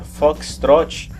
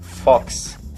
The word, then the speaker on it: foxtrot: caso em particular pessoal apesar de na regra o correto se a pronúncia foxtrot não é claro você ouve pela companhia e brasil afora o pessoal pronunciar apenas da primeira parte fox assim teoricamente isso não é correto mas muitas vezes os